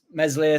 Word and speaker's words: Meslier: getting a game mate silent s meslier silent s in there my man Cooper Captain